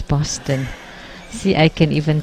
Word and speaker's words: Boston: Harvard University and MIT you don't say positon its Boston see I can even